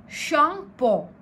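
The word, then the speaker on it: Tsangpo: The river Brahmaputra originates from Tibet where it is called शांगपो. द T here is silent.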